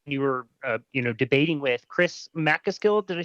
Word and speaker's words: McCaskill: However, that said, should we call him your opponent, the person you were, debating with, Chris McCaskill? Did I say his name right? McCaskill. McCaskill.